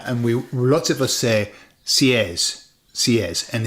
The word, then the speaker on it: seis: And we lots of us say s. And it's not. No. The the e is pronounced e and the i is pronounced e. Therefore is says.